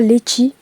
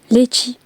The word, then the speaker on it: litchi: On a un fruit aussi typique un peu, le litchi, qui se prononce là-bas litchi. Litchi. Moi personnellement, je prononce litchi, parce que j'ai pas d'accent réunionnais pour l'instant.